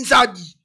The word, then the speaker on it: Nzadi: faut pour na combo yo yo ezaki mal prononcé combo ya Zaïre OK en réalité elle est Zaïrité en réalité elle est Nzadi Mobutu na robanga ayo chako ma Zaïre.